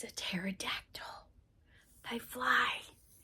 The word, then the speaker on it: pterodactyl: t-t terod what happened the P PP is silent you don't hear it it's a t pterodactyl it's a tricky word